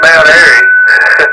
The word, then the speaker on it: Mount Airy: But A-I-R-Y, Airy, like it's airy outside, I guess is a way to explain it there, right?